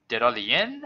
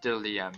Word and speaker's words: Diddleium: How do you pronounce the name of my channel? Diddleian? I don't have. I assume that's still. It's Diddleium.